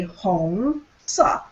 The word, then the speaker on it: 红色: So O-N-G, you see it there. Actually, it sounds like ong. Ong in English. Okay? So it would be 红色.